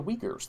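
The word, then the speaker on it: Uyghurs: fellow who's so delightful uh he mentioned the weakers that's how you pronounce this we didn't figure out the science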